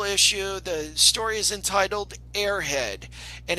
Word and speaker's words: Aerhead: The story is entitled Airhead, and it's spelled Aerhead.